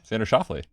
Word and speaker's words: Xander Schauffele: Xander Schauffele.